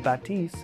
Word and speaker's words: Bathys: look no further lucky for this list the bathys or as we've also heard it pronounce the batis if you're free was just released like the